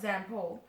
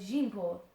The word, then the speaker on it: Jean-Paul: Beanpole's name, I learned, was not Zampole, but Jean-Paul, and even those simple syllables took some mastering.